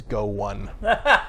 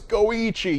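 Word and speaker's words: GO1: Go numeral one, and Jeff read it as Go one, which is not that surprising though. I mean, you can keep all that esports stuff straight, right? I'm sure I mispronounced something else in one of the other categories, but I was like, no, it's Goichi, you fool!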